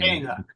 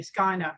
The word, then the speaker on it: scaena: I was just going to say that Shana in the classical pronunciation would be Skyna, right? Yes, it would. And if you were Cicero, you would say Skyna. Okay. Yeah. The AE becomes a long I sound, Skyna.